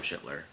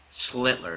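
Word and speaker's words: Schlittler: Um, but he's not Cam Schler or I keep saying his name wrong. What is it? Schlitler. Schlitler. Stupid.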